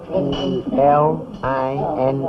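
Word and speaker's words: Linh: spell your son's name his name is spelled l i n h and it's pronounced lin their names are intended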